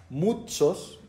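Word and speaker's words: μῦθος: eh que en la referencia Strong habla de la palabra en griego se pronuncia mutsos, que significa cuento o historia que viene de la ficción, del mito.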